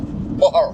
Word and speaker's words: Moher: How is it pronounced? Mohar. Mo. Moher. Moher. Yeah. Moher.